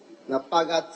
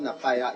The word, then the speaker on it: Napaga: Napaga. It is spelled Napaya, it's Napaga.